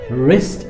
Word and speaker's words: wrist: Susie fractured her wrist in the accident, which means Susie has broken her wrist, and it is wrist and it's not wrist. The W is silent, so it's wrist.